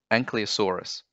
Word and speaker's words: Ankylosaurus: The next one up is quite tricky, Ankylosaurus. So five syllables, an-ky-lo-saur-us. Ankylosaurus, when you say it fast.